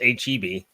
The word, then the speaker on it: HEB: based chain yeah it's it's pronounced HB okay if you see HEB you're get kicked out of the state for 20 years well I don't live